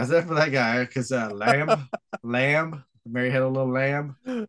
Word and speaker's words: Lam: yeah, it's really rare that people like, because LAM is not really lamb. I guess I have no idea when you pronounce it, right? It's lam. I think it's Lam.